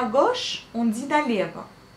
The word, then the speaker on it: налево: Quand on veut tourner à gauche, on dit налево. Налево s'écrit pareil que la prononciation, donc налево. Sauf encore une fois, à la fin vous le prononcez comme un A, mais vous l'écrivez comme un O.